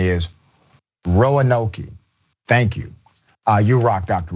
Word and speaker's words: Roanoke: By the way, for audio only viewers, the pronunciation is Roanoke.